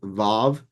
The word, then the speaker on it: Vav: The W is often pronounced with a V sound, Vav.